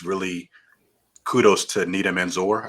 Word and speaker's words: Nida Manzoor: Um, and I think overall it's just a fun movie, and it's really kudos to Nita Manzoor. I think that's how you pronounce her name, the director.